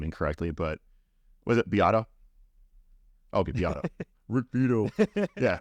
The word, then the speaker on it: Beato: Guys like Rick Beato, Mm-hmm. I'm probably pronouncing his last name incorrectly, but was it Beato?